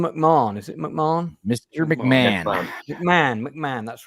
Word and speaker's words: McMahon: is roughly uh 40 minutes Mr is it pronounced Mr mcmah is it mcmah Mr McMahon mcmah McMahon that's right mcmah thank yeah imagine